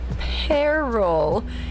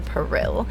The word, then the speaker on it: peril: I have a way of remembering it of the the way you really pronounce it like the fruit pear. And then you just add to the end. Okay. Now this problem comes from Mario Party 2 platform peril and I always read it as platform paril. And that was incorrect.